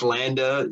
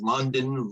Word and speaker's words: Landa: too girly and feminine nobody could pronounce landa i would get called london laundry london linda landis i mean you name everything but landa i would get called